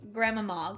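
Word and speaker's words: Grima Mog: There is Grimamog. The proper pronunciation is what Brad just said is Gramamog.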